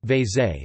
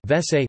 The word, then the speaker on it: vécé: Vese. Vese. Vese is the Hungarian pronunciation of the English abbreviation of water closet.